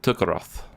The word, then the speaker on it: Tukaroth: or kingdom of Tukaroth, however you wish to say it, but I pronounce it Tukaroth.